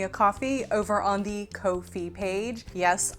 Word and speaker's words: Ko-fi: Thanks to everyone who has bought me a coffee over on the Ko-fi page. Yes, I'm not calling it coffee because it's not spelled like that.